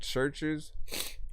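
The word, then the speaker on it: CHVRCHES: the lead singer of a band called churches um and they spell it kind of unique hold on let me see if I I always feel like I'm spelling it wrong it's ch h v r c h e s if you listen to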